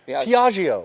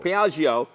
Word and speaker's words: Piaggio: Piaggio. Piaggio.